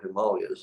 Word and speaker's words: Himalayas: We were in the Himalayas, or Himalayas as they're actually pronounced, actually in Tibet at a monastery.